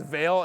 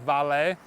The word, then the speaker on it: Vale: on US Stock markets most people think it's veil it's actually pronounced valet and it is another